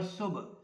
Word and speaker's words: صبح: میں مدد دیتا ہے۔ یہ جو لفظ ہے اس کو ہم صبح بھی پڑھتے ہیں، صبح بھی پڑھتے ہیں اردو میں، اور اس کا جو صحیح تلفظ ہے وہ ہے صبح۔ کوا صبح موڈ خراب